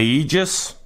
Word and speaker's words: Aegis: business data today we're looking at the a Aegis perfect that's how you pronounce it by geek beep alright this is